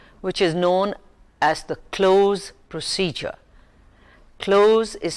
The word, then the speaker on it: cloze: developing reading comprehension which is known as the close procedure close is spelled c-l-o-z-e now you would like to know